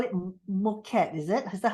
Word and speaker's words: Mükad: And of course, to all the ladies from, you call it Mükad, is it? Is that how you pronounce? Yeah, Mükad, okay.